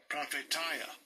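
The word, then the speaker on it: προφητεία: It's spelled PH. Or PR, I'm sorry. PROPHETEIA. And it's this word. Strong's G 4394. Prophetia.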